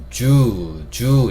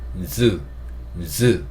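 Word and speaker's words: zoo: 모은다고 말씀드렸고 간단하게 보겠습니다 동물원이라는이 단어를 얘기할 때 쓰이는이 글자인데 이것도 우리가 주주 이렇게 하는게 아니라요이 동물원이라는 단어는 주가 아니고 즈 즈 이렇게 발음하셔야 된다는 거 그 다음에 숫자 0도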